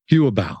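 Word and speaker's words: Yu'ebao: was of their money market account, which is pronounced Huabei. Is that right? Yuabao.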